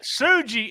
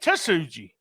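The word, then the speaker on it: Tsuji: something about that kid suji I'm gonna tell you every time I look at his name I want to pronounce the T yeah so I want to say tasuji so that's what I'm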